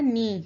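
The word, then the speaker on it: knee: Next word आ जाता है हमारा नी। यहाँ पे भी हमारा के क्या है, साइलेंट है।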